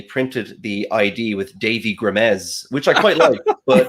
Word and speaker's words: Grimes: Grimes, right? I don't want to say it wrong. It was no, you said it perfectly. What if it was Grimace or something?